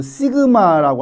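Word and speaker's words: σ: 그 다음에 모분사는 요 발음을 우리가 이제 그 시그마라고 하고 여기에 이자가 붙었으니까 시그마 스퀘어라고 우리가 표현합니다.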